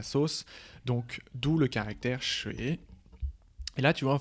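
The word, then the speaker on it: 水: Ensuite, le troisième caractère, plus tu montes, plus on rentre dans le détail, n'oublie pas, c'est le caractère qui se prononce shui, qui veut dire l'eau.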